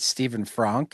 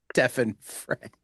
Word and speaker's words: Stefan Frank: when I asked and I guessed, I said, "Is it Stephen Frank?" And he's like, "Actually, it's Stefan Frank."